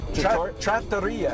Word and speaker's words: Trattoria: Trattoria, actually. Trattoria. Yeah, Trattoria is the Italian pronunciation.